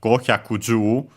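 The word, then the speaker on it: 五十: our case I think the accent should be the same as nana the strictly Japanese pronunciation for uh seven uh and yeah so most likely uh I'd say that uh goju is actually simply accented on uh just like Jew and on the Jew itself.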